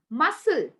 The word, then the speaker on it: muscle: where c is silent whenever c comes after s it becomes silent when c comes after s for example muscle muscle right and also